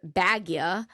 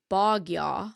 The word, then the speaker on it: Bogya: We called her Bagya, but it's really Bogya.